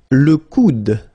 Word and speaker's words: coude: Le coude, le coude. So it's actually quite funny because the only difference between these two is this d, d at the end.